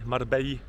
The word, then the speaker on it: Marbella: Dzisiaj przyjechaliśmy sobie do innego miasta - Marbella, "Marbeji" jak kto woli ponieważ 2x "L" czyta się po hiszpańsku jako "J".